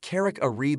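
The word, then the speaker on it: Carrick-a-Rede: Near Ballintoy in County Antrim, Northern Ireland, is the Carrick Reed Rope Bridge, which is pronounced Carrick Reed locally.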